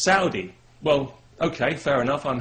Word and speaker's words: Saudi: People have said to me, you know, you're pronouncing that wrong. It's not Saudi, it's Saudi.